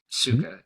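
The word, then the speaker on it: Sukha: How and because I really want to and and your company suga am I pronouncing that correctly?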